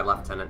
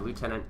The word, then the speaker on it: Lieutenant: So, everyone has a British accent, and everyone uses British pronunciation. So, that's why Lieutenant instead of Lieutenant.